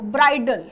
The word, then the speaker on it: bridle: होगा स्टूडेंट, ये देखो, ब्राइडल। ये वाला ब्राइडल और ये वाला ब्राइडल, ये दोनों सेम, इसका प्रोनाउंस हम सेम करेंगे।